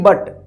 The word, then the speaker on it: but: अब देखिए यहाँ पे BUT, बट, दोनों के बीच में यू है, फिर भी यहाँ पे बट पढ़ा गया, और दोनों कॉन्सोनेंट के बीच में यू है, यहाँ पे पुट पढ़ा गया।